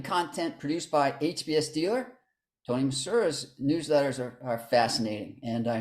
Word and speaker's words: Tony Misura: We're very happy to have our guest today is Tony Misura. That's pronounced like St. Louis, Missouri. I believe that's Exactly. Yes, the S is almost like a Z.